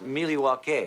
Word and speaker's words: Milwaukee: last night lost to Dallas without actually it's pronounced Milwaukee I'm sorry which is Algonquin for the good